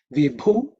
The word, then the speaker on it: Vibhu: next mantra, which is Vibhu Chame. Vibhu Chame. Vibhu Chame. In terms of pronunciation, the letter Bhu is the fourth letter in the Pa Varga, so it has to be aspirated.